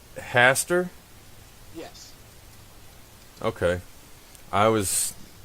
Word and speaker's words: Haster: so so it's pronounced Hastur yes okay I was I was making the a long so I was pronouncing it incorrectly you mean I said hey stir Oh oh nice no